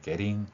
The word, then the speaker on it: getting: getting 이 부분 같은 경우는 모음과 모음 사이에 t가 리을로 소리 나기 때문에 getting 이렇게 발음된다고 볼 수 있습니다.